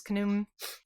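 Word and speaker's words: Khnum: So apparently this is one of Ra's personifications which is kum. Kum rhymes with kaboom.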